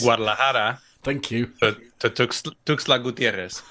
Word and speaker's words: Guadalajara: I want to say Guadalajara. No, go on. I'll jump in with the life preserver. Please. It's Guadalajara.